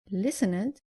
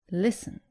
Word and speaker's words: listened: And avoid saying listened, say listened. The less common mistake is not pronouncing the id clearly at the end of verbs ending in t or d.